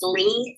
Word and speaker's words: Leigh: for the audience uh it's Lee it's pronounced l-e-e but my last name is l-e-i-g-h so it's and